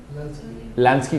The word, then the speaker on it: Lansky: Lansky, como se oye, L-A-S-K-Y, L-N, Lansky, con Paul Lansky.